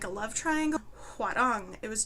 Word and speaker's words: Hwarang: It was like a historical Korean drama, Hwarang. That's how they say it in the show.